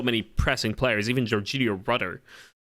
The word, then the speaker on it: Rutter: pressing players, even Jorginho Rutter or Rutter as it's pronounced correctly, he's very much pressing